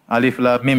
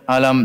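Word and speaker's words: الم: Alif lam mim jangan dibaca alam, ya.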